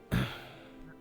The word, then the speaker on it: halberd: Halberd, like spear with axe. It's not spelled like bird, but it's a halberd.